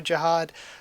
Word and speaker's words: Zahard: another reason why i kind of keep saying zohar mostly just because i prefer it over jihad but also because cu himself has spelled it